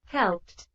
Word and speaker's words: helped: a agregar el sonido y ese es la pronunciación del pasado regular. Acá lo voy a escuchar, se lo voy a colocar. helped, helped, helped, Helped, helped.